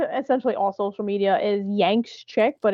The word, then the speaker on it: YanxChick: But yeah, my name on sort of essentially all social media is Yanks Chick, but it's spelled with X because it's edgy. It's YAN as in Nancy X.